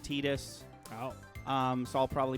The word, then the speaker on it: Tidus: name is confusing though you want to call him titus but it is pronounced tidus oh um so i'll